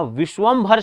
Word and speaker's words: विश्वंभर: का नाम है विश्वंभर तो याद रखना खना विश्वंभर शब्द होता है लेकिन उच्चारण में ऐसा लगता है हमें कि हम विशंभर बोलते हैं और हमसे गलतियां हो जाती हैं इसके बाद मैं बताता